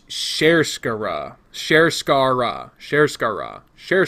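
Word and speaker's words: Sharskarra: spelled sha RSK ARRA I had been jokingly calling it Shaka brah but here's how it's actually supposed to be said share Skaar raw share SCARA not Shar share Chikara again I like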